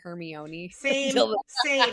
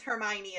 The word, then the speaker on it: Hermione: Do you guys know I also call in Harry Potter I called Hermione Herion. F never knew it was Hermione until the movies and I was like fine.